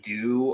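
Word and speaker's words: deux: number two speaking um they'll say like do a lot and it's spelled d-e-u-x yeah French it's French yeah right I love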